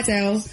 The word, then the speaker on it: Adele: He came and asked me how I say my name, and I was like, Adele. She was like, hi, Adele. They do Adele? Adele. So it's supposed to be Adele, I guess.